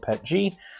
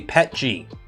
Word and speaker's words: PETG: Everything except the TPU tracks use Greengate recycled PET G.